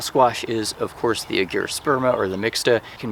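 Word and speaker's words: argyrosperma: mixta, which is also cucurbita agyrosperma, if I'm saying that correctly, agyrosperma. Usually it's a hard G for traditional Latin, but we don't always go by that in the scientific community.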